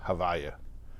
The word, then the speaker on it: Havaye: did not even pronounce the letters consecutively we pronounce it as Hava um that is the four letters y and